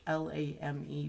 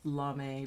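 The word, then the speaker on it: lamé: And anything like that, lame fabric, it's L-A-M-E. People think it's pronounced lame, but it's lame.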